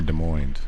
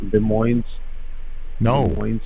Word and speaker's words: Des Moines: right yeses are silent both s's are silent you don't use the S at all on either word both on the first